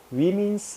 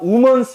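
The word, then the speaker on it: Womans: 이화 위민스 유니버시티 이렇게 나와요. 이화 우먼스 유니버시티가 아니라, 이화 우먼스 유니버시티 하면 여자 한 명 다니는 학교야.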